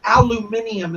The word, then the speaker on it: aluminum: And for our British viewers, aluminium is how the British say it. But we say aluminum.